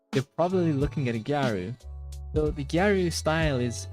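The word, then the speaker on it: ギャル: So, in Japan, there's a fashion subculture known as gyaru, which basically is the Japanese pronunciation of girl, but you might have more commonly heard it being pronounced as like gal girl.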